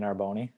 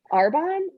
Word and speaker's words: Arbonne: You have no interest in joining Arboni? In joining the Air, movement? wait, Arbonne?